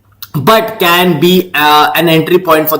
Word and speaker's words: SEI: Fifth and the last altcoin which I want to tell you is C, which is pronounced it is called as SEI.